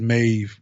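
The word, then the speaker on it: Maeve: get to um uh mave it is mave it's hard well at least that's how you pronounce it maybe who is Dy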